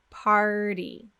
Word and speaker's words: party: make sure we pronounce party. The key thing that you need to know about the word party is that you have to get two consonant sounds. We need the American sound, and we also need the quick D sound.